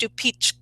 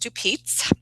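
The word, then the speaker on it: Stupice: I've always been told it's pronounced stupichka, but I've also heard it pronounced stupitz, however you say it.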